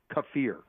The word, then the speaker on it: kefir: another and other fermented foods like kimchi yogurt kefir and me so by the way it's ke F I are most Americans pronounce it either kefir or kefir it's pronounced kefir so anyway it goes on to say